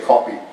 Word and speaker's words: copy: copies by the way that's my pronunciation of that word because I'm British trained I don't say happy I say copy and off and stop that's why people think I'm a Brit sometimes I'll watch Doctor